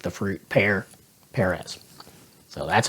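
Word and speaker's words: George Pérez: Now, most of my life, I pronounced it Perez, which is not right. And I did a bunch of research to determine that, and I found a lot of interviews with him, and he says Perez, like the fruit, Perez.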